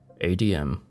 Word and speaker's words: ADM: he explained to me ADM and RM pronounced ad and REM considering your placement in